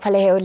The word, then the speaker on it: Paleho: And to unpack all this and more is director of Paleho, Lebo Leisa, and Nthabiseng Mojaki, who plays Manoko in Paleho.